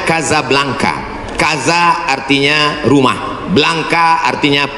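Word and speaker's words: Casablanca: nama negaranya Maroko ibukotanya tulisannya casablangca cara bacanya Kadzab langka Kaza artinya rumah Blanca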